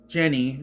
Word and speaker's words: Jeni: We just cut to our 4 American college friends: Sophie, Ben, Jenny, spelled Jeni. That's Jenny, first of all. Whatever. But it's pronounced Jenny.